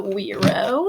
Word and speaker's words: güiro: The front door, we're going to use the güiro. Let me get that out. This is a güiro, spelled with a G because it's a Spanish instrument. Güiro.